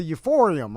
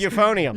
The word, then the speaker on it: euphonium: Um, doesn't Becca, she started with the euphorium, right? Yes. That's how it's pronounced. Euphorium. Yes. They Okay, everybody's telling me it's pronounced euphonium.